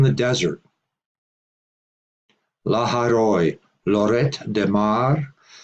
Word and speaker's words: Lloret de Mar: an added final T Spanish speakers pronounced the final T in Lloret but French speakers do not interestingly the hear ona